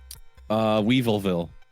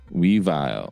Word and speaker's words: Weavile: Weevilville. Weavile.